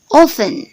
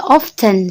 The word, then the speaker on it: often: Often. Oke, perhatikan ini T yang di sini, ini dibacanya blank word. Jangan dibaca often, salah. Ini dibacanya often.